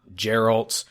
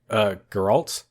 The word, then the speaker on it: Geralt: It's not Geralt, it's, Geralt is actually how you pronounce it. I'm not very good at pronouncing it, so I should say Geralt. Well, I've been saying Geralt for a while because I didn't know, but having played the game now, it's definitely Geralt.